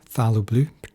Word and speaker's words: phthalo: i then moved to a phalloblue or phthalo blue depending on how you pronounce it and again just splashing